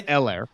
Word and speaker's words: Helaire: H is silent? Yeah. Yeah. Helaire.